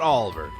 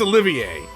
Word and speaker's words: Olivier: was Oliver what okay so that's not Oliver that's Olivier have I been mispronouncing Oliver's name this entire time through